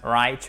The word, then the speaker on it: write: Et ce qui est très important, c'est qu'on ne prononce pas le W, ok? On ne prononce pas le W. To write. Right. On commence par le R.